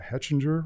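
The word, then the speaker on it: Hechinger: Jackson is regularly cited in stories that appear in, I can't even pronounce that, Hetchinger Report?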